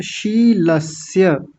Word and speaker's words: शीलस्य: शीलस्य, यहाँ विशेष ध्यान देंगे, कई लोगों ने बहुत अच्छा उच्चारण किया। पहला तालव्य सकार और दूसरा दंतीय सकार। तो कैसे बोलेंगे, अब शीलस्य, शीलस्य दोनों का अलग अलग उच्चारण होना चाहिए, स्पष्ट।